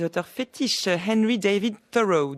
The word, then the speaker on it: Thoreau: fétiches et louis david thoreau alors moi je vais le prononcé à la française qui effectivement est sorti le second volume du journal de henry david thoreau aux éditions de la